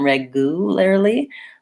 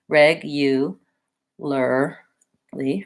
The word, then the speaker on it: regularly: of like a you reg you rather than regularly that's one a case where we have that the sound in there so think about it thinking about it as regular lee regularly and you can build it either from